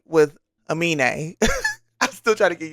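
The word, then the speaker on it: Aminé: So I've been pronouncing his name wrong, but I've been trying to do better. I believe it's Amine.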